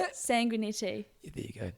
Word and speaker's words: Sanguinetti: Sanguinetti.